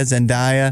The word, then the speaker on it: Zendaya: timothy chalamet zen how do you say it zendaya zendaya zinda yeah okay uh yeah she's in spiderman